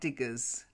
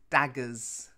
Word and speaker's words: daggers: anyway let's carry on daggers not diggers daggers yeah and javelins javelins